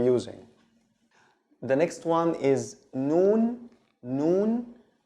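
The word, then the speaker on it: ن: The next one is noon. Noon, it's written like this when it's separate, and when it's connected, it's like this. Okay, noon, the N sound in English, no difference.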